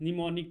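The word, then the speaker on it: mnemonic: Assembly language में क्या होता था, हमारे पास निमोनिक कोड्स, एम से लिखते हैं इसे, एम साइलेंट रहता है, निमोनिक कोड्स, ठीक है।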